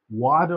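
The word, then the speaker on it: water: फादर, फादर, pose, वाटर, वाटर, जिसे हम American accent में वाटर बोलते हैं, वाटर, वाटर, टी को डा का साउंड में प्रोनाउंस किया जाता है गाइस, वाटर, सेम।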